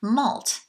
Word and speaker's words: MALT: well you have this tissue called mult like a multiple that candy spelled the same malt mucosa associated lymphoid tissue